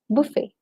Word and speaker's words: buffet: The last T is silent.